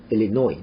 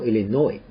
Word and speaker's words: Illinois: 끝에 있는 S는 발음이 되지 않습니다. Illinois. 노를 강하게 읽죠. Illinois.